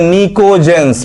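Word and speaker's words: pnictogens: Group 15 इसे हम लोग बोलते हैं निकोजेंस, पी साइलेंट है यहां पर।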